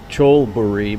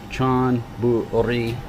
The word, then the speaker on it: Chonburi: And if you don't understand Thai, this is actually a Laling, so it would sound like Cholburi, but it's pronounced with an N. Chonburi.